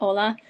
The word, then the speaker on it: Ola: You can also call me Ola. It's spelled like hi in Spanish, but without the H.